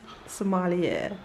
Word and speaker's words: sommelier: Sommelier, Is that what they call the? a wine waiter. Oh, there you go. I know my stuff. Sounds like I'm a Somalian. I think I pronounced it right. Sommelier.